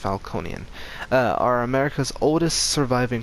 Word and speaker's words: Falcone: game the Falconi family the Falconi are or the falcones I think they're pronounced Falconi uh are America's oldest